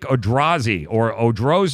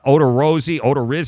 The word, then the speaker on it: Odorizzi: Because of some dude named Jake Odorizzi or good Christ, nobody even knows who this guy is.